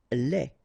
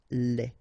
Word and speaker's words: lait: Lait. Un lait. Okay, so the only difference is final thing here, D, you don't pronounce it, T, you don't pronounce it, so phonetically you only have this lait.